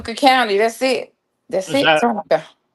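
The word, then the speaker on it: Tunica: And you were dire director of county affairs down in Tunic. Is it I don't know if I'm pronouncing it right. Tuna County, Mississippi. Tuna County. That's it. That's it. Tunka.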